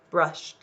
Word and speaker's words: brushed: I brushed my hair so I'll just see if that's still one syllable or if it's more brushed okay brushed it's saying it's our edit is saying its second or third sound so it does not get its own syllable okay so all right